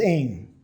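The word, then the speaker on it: ἦν: So, this word here, we'll see it in John, is pronounced aim.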